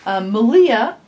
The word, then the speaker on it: Malia: Malia, who is Rhymes with Maria of the Yarn Raising